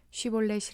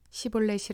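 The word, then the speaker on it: 쉬볼렛: 에브라임 사람이 아니라고 하면 그에게 쉬 볼넷이 라는 말을 발음 하게 하였다 그러나 그가 그 말을 제대로 발음하지 못하고 시 볼넷이 라고 발음하면 길르앗 사람들이 그를 붙들어 유당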